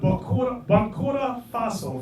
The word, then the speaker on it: Burkina Faso: He was the head of Burkina Faso.